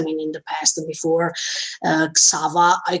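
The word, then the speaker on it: Xaver: In his memories, I mean, in the past before Xava, I call him Xava, that is the Japanese pronunciation, so I don't make mistakes.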